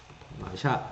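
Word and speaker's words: מָשִׁיחַ: 발음 그대로 하자면 이렇게 발음이 됩니다. 마샤 이렇게 발음이 돼요.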